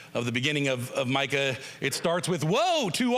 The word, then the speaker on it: Micah: to say it and they would always say Mika. Mika, Mika. And and then I'd have to express to them, no, it's Micah.